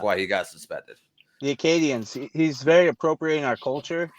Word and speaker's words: Acadian: Acadian is how you pronounce it.